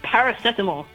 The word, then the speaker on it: paracetamol: Also, it's pronounced paracetamol.